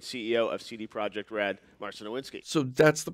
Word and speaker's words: Marcin Iwiński: Marcin Nowinski.